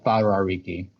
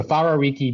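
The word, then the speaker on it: Wharariki: actually whenever you see a w and it's pronounced with a f like f so it be farar Riki so farar Riki Beach it's up the north it's very very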